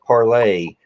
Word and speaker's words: Parler: People are running from Facebook, going to Parler, which I hear is pronounced parlay, or they're going to MeWe, which is the competitor to Facebook, supposedly, and all of that.